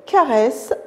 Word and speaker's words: caresse: Il caresse son chat. Caresse. Le mot caresse, ça se lit S parce qu'il y a un E suivi de double S, E.